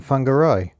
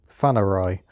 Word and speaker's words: Whangarei: spent 2 days in Whangarei, or Whanarai, as someone said with ENG kind of creates a silent noise. So I've heard at least 3 different ways of pronouncing that place. That's what I'm going for, Whangarei. Then I came up to